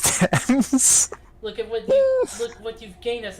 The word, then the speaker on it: Thames: and an E, and it's like it looks like it should be Thames. Like, look, It's just like I've the- lived in the UK all my life and I know it's pronounced Thames.